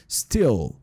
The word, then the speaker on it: still: Então, a gente tem que pronunciar principalmente esse I aqui um pouquinho mais pra dentro e fazer esse som de L bem forte, tipo assim, ó, still, beleza?